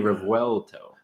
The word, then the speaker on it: Revuelto: Revuelto. That's how you pronounce it. Lamborghini Revuelto.